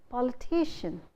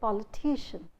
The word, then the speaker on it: politician: Similarly, you say politician, because the suffix is ian or shan. So you say politician. The stress is on T.